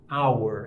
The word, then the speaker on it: hour: por som vocálico né vamos lembrar aqu ela do H Não pronunciado também eu tenho aqui a palavra por exemplo hora hour se eu tenho que falar uma hora né eu vou falar an hour E na escola em